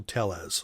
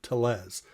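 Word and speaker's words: Telles: Essentially, it's a project for singer, songwriter, musician, producer Michael Tellez, or Tellez. T-E-L-L-E-S. However you want to pronounce that, that's okay with me, because this is a great, great band.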